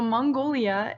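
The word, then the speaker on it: 몽골: Okay, so Mongolia is pronounced Mongol.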